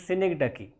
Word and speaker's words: synecdoche: Pronunciation of this word is, normally I have heard some people pronouncing this word as Synecdoche or something like that. This is Synecdoche.